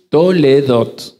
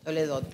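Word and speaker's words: תולדות: Usted sabe que la palabra genealogía lo aprendieron en hebreo se dice toledot. Toledot.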